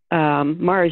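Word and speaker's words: Mahrer: reading his stuff and his name is not spelled the way it sounds so mar's name sounds like you know the planet but it's spelled m-a-h-r-e-r al or alvin are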